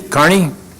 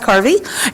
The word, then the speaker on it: Carvey: in this world and people always get my name wrong darby carney i once was called miss gravy by a group so anyway my name is carvey and um i am